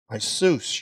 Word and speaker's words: Iesus: servant, which you made known to us through Jesus, your servant. That's the Greek pronunciation.